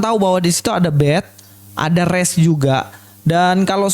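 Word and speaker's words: ב: Bet ini biasanya dibaca B ya. Bet, B, seperti bahasa Inggrisnya di sini boy, B. Dan kalau ada titik di tengah ini B. Tapi kalau nggak ada titiknya itu nanti bacanya seperti ini, V.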